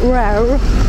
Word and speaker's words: Rare: Lubię też, ktoś mnie poprawił, że się powinno wymawiać rare, no to lubię te rare.